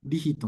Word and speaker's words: Rihito: En la pronuncia de japonés, mi idioma materno, me llamo Rijito, pero no hay lío llamarme así en la pronuncia de español, así como Rito o Rito.